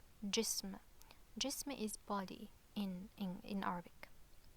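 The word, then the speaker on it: جسم: This word is jism, jism.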